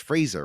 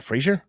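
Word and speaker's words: Frazer: his name Nathan Fraser it's Fraser right f is not Frasier it's not Frasier it's Fraser Fraser frer uh to retain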